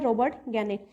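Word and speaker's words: Gagné: हैं रोबोट गने इनको जी ए जी एन है एन ए है वैसे स्पेलिंग लेकिन बोलते हैं रोबर्ट गने रोबर्ट गने एक अमेरिकन साइकोलॉजिस्ट थे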